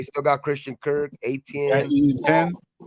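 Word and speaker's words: Etienne: Ian 10. Is that how you say his name? Ian 10? Ian 10? ATN. Like AT&T.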